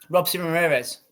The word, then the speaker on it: Robeisy Ramirez: Robeisy Ramirez.